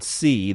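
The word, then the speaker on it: Tse: The project is led by Stanford engineering professor David C., that's spelled T-S-E, known for his prior research on information theory while working at the University of California in Berkeley.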